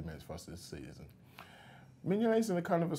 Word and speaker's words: Mignolet: That's the pronunciation. So Simon Mignolet, if you could please refer to him rather than Simon.